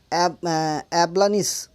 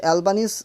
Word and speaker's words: Albanese: এই দেখো বুঝতে পারছো হালকা, তাহলে ওয়ার্ল্ড সেকশনে একটা নিউজ দেখো, ahead of Quad অ্যাবলানিস, ঠিক আছে, অ্যালবানিস হচ্ছে, সরি উচ্চারণটা ভুল বললাম, ahead of Quad অ্যালবানিস sworn in as the Australia PM.